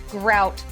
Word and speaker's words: gruit: Debbie down all this it's actually pronounced grout that's all really no I literally